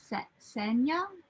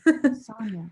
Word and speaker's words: Sonia: Was it Senya? Is that how you pronounce her name? Anya. Sonia.